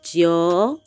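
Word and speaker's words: 九: next we have is joe joe joe you see is a is a falling and a rising and this is number nine yeah number nine it has a falling and the rising tone there you have it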